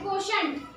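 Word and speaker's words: quotient: त्याला म्हणायचे कोशंट.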